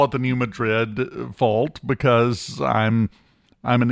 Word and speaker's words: New Madrid: Uh if the New Madrid fault went off again, by the way, we've now apparently officially decided that's pronounced New Madrid.